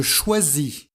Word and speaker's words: choisis: prononciation du S SI il y a une voyelle avant et une voyelle après il se prononce Z je choisis pour avoir